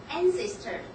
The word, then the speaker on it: ancestors: And then another pronunciation, ancestors. Ancestors, the stress should be on the first syllable.